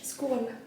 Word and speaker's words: skål: Skål.